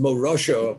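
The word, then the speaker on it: מורשה: The shin and the sin, what determines the pronunciation? Where you put the dot, on the right side or the left side. If it's pronounced Morosha, Morosha means heritage. Morosa means Erisin. The Torah is the betrothed of Yaakov.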